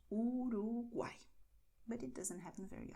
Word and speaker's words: Uruguay: And pay attention because the letter Y at the end of the word always sounds like I. So Uruguay.